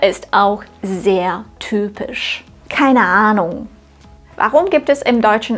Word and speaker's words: Ahnung: etwas Luft ausstoßen keine das Wort Ahnung ist besonders interessant es beginnt mit einem langen a bei diesem Vokal solltest du den Mund möglichst weit aufmachen Ahnung nur so wird er richtig Deutsch klingen das Wort Ahnung endet